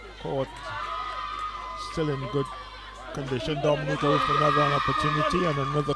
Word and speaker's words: Dominica: It is spelled D-O-M-I-N-I-C-A. It is not Dominican Republic. It is pronounced Dominica and is situated between Guadeloupe and Martinique in the Caribbean.